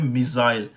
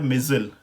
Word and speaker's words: missile: मिज़ाइल हैं, word है मिज़ाइल, ठीक है। ब्रिटिश प्रोनाउंसिएशन जो हम यूज़ करते हैं मिज़ाइल। सो अमेरिकन प्रोनाउंसिएशन में ये है मिज़िल। So missile, maybe I'm not exactly